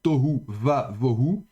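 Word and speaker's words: תֹהוּ וָבֹהוּ: est milel, eh bien, le vav se prononcera va, donc avec un kametz. Donc, de nouveau, règle finalement relativement peu d'importance, mais voilà, vous le savez maintenant. Donc, on prononcera tohu va vohu.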